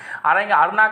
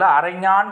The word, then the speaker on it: அரைஞான்: அருணா கயிறு நம்ம சொல்வது உண்டு வழக்கத்தில். அரைஞான் கயிறு என்று சொல்வதுதான் அது சரியான தமிழ் உச்சரிப்பு. அதுதான் அரை என்ற சொல்லுக்கு இடுப்பு என்று பொருள்.